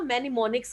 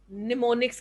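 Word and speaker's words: mnemonics: उनको क्या कहते हैं, आप मैनिमोनिक्स कहते हैं, निमोनिक्स कहते हैं, एम साइलेंट होता है, सॉरी, निमोनिक्स कहते हैं उसको।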